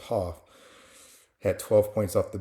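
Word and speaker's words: Haugh: Uh Haw I think his name name is pronounced Hoff had 12 points off the bench.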